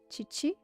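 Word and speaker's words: 父: that's it for father Chi-Chi and fu chii is how you say your own father if you're talking about your own father you say Chi-Chi if you're talking about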